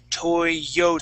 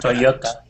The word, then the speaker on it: Toyota: saying to all right the the Y in English Okay would be a y sound so we would say Toyota Toyota there you go Toyota